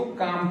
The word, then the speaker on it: calm: इसमें हम एल को क्या करेंगे, साइलेंट कर देंगे, सीधे इसको काम पढ़ेंगे।